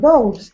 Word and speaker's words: dough: How do you pronounce the word dough?